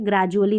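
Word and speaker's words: gradually: कैन ग्रेजुअली, अब इसको डुअली नहीं पढ़ेंगे, ठीक है, ग्रेजुअली धीरे धीरे, ठीक है।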